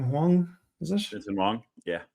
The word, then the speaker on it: Huang: Your man, the Jensen, how do you pronounce his name? Huang, is it?